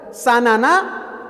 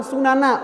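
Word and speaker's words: سَنَن: Sehingga dua-duanya boleh dibaca sanana atau sunana. Walaupun para ulama lebih menekankan dengan membacanya dengan fathah sanana, kalian pastinya akan mengikuti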